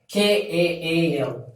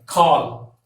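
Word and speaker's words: கால்: so this leg represents so this leg will be pronounced as call kaal call so this code means leg in tongue and you have to pronounce like cow you might have pronounced the same pronunciation like call I will call you so the same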